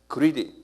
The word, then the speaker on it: greed: Greed 그랬어요. Y를 빼면 형 Y를 집어는 형용사인데요. Greed 한번 발음해 보세요. L이가 R이에요. Greed.